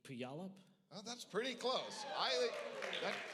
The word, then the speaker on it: Puyallup: read um i'd say puyallup oh that's pretty close i that that beats steve what what is it it's puyallup pew all right what do we got